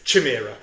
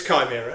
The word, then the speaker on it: Chimera: And also the fact that everyone pronounced it, including the guy introduces my podcast pronounced it as Chimera, okay? But it's not. But it's okay. But it's but it's Chimera.